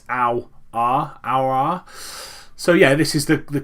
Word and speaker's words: Aouar: I have seen how to pronounce his name. It's Aouar.